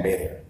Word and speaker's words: better: No, pronunciation, to be better and better, yeah? In this case, better and better, no, yeah? Better and better. T become D.